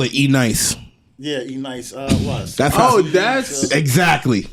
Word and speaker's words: NYCE: I call it E-Nice. Yeah, E-Nice was. That's exactly. Okay. So it's exactly. like 2002. But they pronounce I like it that E-Nice.